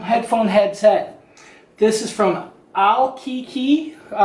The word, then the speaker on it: ALLCACA: new headset um headphone headset this is from Al Kiki it's actually spelled al l CA CA but it is pronounced al Kiki this is supposed to be